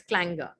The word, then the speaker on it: clanger: it's not clanger it's clanger right without the pronunciation of r in the end let's say the r is silent in the pronunciation clanger means a continuous